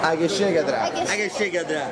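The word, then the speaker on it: Egészségedre: Agyeségedre.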